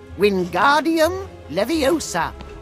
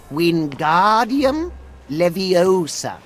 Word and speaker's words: Wingardium Leviosa: leviosa just like this wingardium leviosa pay attention to your pronunciation it's wingardium leviosa remember make the gar nice and long also the wrist movement